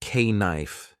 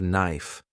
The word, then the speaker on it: knife: People laughed when I said k knife instead of knife.